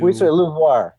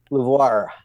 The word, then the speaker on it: LUVOIR: you say this new lir it looks like a French name and our joke is say it like a pirate lir yeah so uh yeah